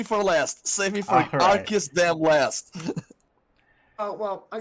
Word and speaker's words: Arceus: Oh, Arceus, but pronounced correctly.